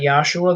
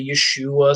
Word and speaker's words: Yeshua: And I pronounce that Yahshua. There's debate on how to do it. Some people say Yeshua, some people say Yehoshua, whatever, but it's certainly not Jesus, you know?